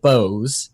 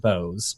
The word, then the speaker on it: Boaz: libertarian mind a Manifesto for Freedom by David Bose it drives me crazy that he pronounces it Bose because it is like how you spell Boaz